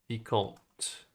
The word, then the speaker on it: Vicomte: It's from Vicomte, and if it's in French, I'll pronounce it right. Vicomte.